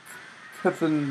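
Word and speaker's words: C'Thun: I'm noticing that, or at least from what I've heard, they're trying to make Kethan decks, which is apparently the proper pronunciation, a big thing.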